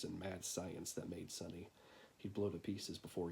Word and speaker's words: Sine: angle who are you Sunny weird name for an automaton short for Cima most folks don't pronounce c right pronounce it sunny just kind of went with